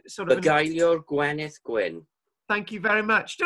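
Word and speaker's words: Bugeilio'r Gwenith Gwyn: a poetry song, love song, known as the Beguilor Gwenith, which is probably the wrong pronunciation. It's sort of Beguilor Gwenith Gwyn.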